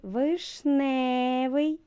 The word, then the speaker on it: вишневий: хата перший склад наголошений а в слові вишневий наголос паде на другий склад А у слові веч